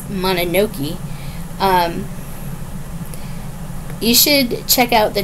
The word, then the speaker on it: Mononoke: club Princess Mononoke and that's how you say it is mana no key you should check out